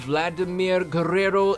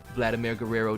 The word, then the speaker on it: Vladimir Guerrero: I'm wearing, in fact, the jersey of Vladimir Guerrero Sr., whose son, Vladimir Guerrero Jr., is doing some pretty good baseballs right now, from what I hear.